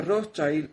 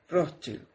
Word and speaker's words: Rothschild: Gracias también al suscriptor que me escribió y corrigió mi pronunciación cuando yo leo Rothschild. Yo decía Rothschild y él me dijo que se dice Rothschild.